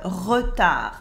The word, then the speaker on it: retard: For example, le retard, lateness. Here you can notice that the D in retard is silent. We don't say it.